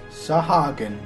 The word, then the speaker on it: Sahagin: Sahagin. That's how you pronounce that.